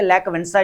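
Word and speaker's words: Lech Wałęsa: है basically लैक वेंसा ये जो डब्ल्यू ए एल ई एस इनकी जो प्रोनाउंसिएशन है बेसिकली वो ये है कि लैक वेंसा इनको बोला जाता है यहां पर एंबुलेंट व्यू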